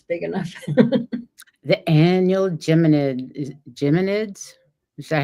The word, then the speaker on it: Geminids: The annual Geminids? Is that how you say it? Geminids?